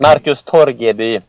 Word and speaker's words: Torgeby: On today's show, we are talking to Markus Torgeby. How are you doing, Markus? It's perfect. Good. Yeah, I got the pronunciation just about right. Yeah, it's perfect. Markus Torgeby, but I think it's hard to just say